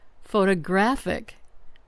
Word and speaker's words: photographic: Photographic. Stress on the third syllable.